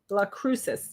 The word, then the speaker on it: Las Cruces: So people are phonetically telling me. James told me Las Cruces. La Cruces.